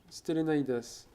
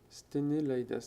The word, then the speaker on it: Sténélaïdas: Ici, Socrate, toujours, qui se bataille contre Stélénaïdas. C'est Sténélaïdas. Très bien, moi, je l'ai prononcé correctement du premier coup.